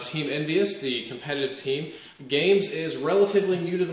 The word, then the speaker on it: GAEMS: affiliations and biases with the games company which is spelled like this as in games a little bit funny